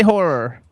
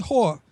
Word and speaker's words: horror: How do you say horror? Horror? Horror. See, she says it correct. Horror. Horror. I always. He says whore.